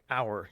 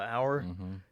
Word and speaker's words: hour: I was watching the other night on some video, some comedians from England, and all these words have silent letters, like hour. You know, the hour. The H is silent.